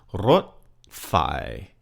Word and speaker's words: รถไฟ: Rot is a high tone. Rot, the first syllable. Rot, and you roll that R just a little bit. Rot phai. And phai is said in your normal flat tone voice.